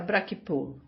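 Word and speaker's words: Braich y Pwll: Evan Pug de Braich Pure que o distrito pronunciara Brakip, Dominique Hurk de Diband, Horry Hopton de Bill e dúias de outros.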